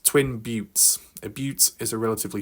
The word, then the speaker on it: buttes: I suppose it looks like a butt, but not pronounced that way.